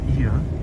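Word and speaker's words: Oia: yeah stay tuned so paul is referring to ia which is the other city after fida north and it's spelled o-i-a in english so the population here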